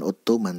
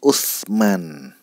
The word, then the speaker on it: Ottoman: pernah mendengar Ottoman Turki itu cara bacanya bukan Ottoman tapi Oesman oesman77 Opera Mini ah